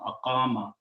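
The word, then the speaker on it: أقام: in the beginning and pronounce this sound of this waw will change into the sound of alif. We have been seeing that. So the word become aqama.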